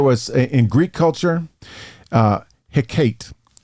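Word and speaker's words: Hecate: and then there was in Greek culture uh hiate h e c a te and that's the way they pronounced it get more creative uh yeah um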